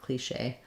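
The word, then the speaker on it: cliché: that like clean Shea stressed on the second syllable in French they put mark on accent mark to show that you're going to have their stress there cliche um yeah thank you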